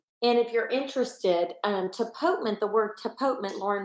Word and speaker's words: tapotement: both I want you to say the word tapotement because the way it's spelled it's hard to pronounce and you want